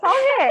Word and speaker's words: Palmier: Palmier. Anybody heard of it before? Remember, my pronunciation is not that accurate. No, it's good. Palmier, it's good.